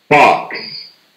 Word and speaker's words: box: Này có âm x phía sau nha. Mình nghe nhiều người đọc là box. Đọc thử nha. Box. Box. Đấy, nó không nhận diện được luôn. Đó là box.